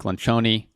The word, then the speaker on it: Lencioni: Then there's a book by Patrick Lencioni. Yes, that is how you pronounce it. It's Italian.